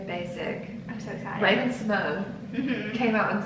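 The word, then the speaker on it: Symoné: I'm so excited Raven Simone came out and said that we've been saying her name wrong her whole lives did you see that I did and we're supposed to be saying it see Monier the thing is yeah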